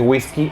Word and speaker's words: whiskey: de primero whisky americano Yo sé que hay una e Whiskey no se pronuncia la e es whisky americano no Whiskey americano OK ahora una vez